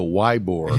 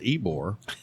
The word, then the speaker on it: Ybor: look but you know i said not long ago why borah yeah somebody was like a i was like that's not how it's spelled all right at least i can pronounce ebore so anyway uh they